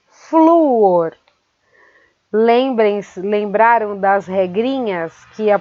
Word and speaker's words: flúor: Saudável é paroxítona, que termina em L, e flúor é paroxítona, que termina em R também.